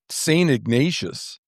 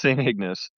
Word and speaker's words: St. Ignace: Oh, St. Ignace? Oh, we call it Saint Ignatius. That's how we pronounced it. Oh, really? Unless I'm thinking of a different town. Yeah, I think it's pronounced St. Ignace.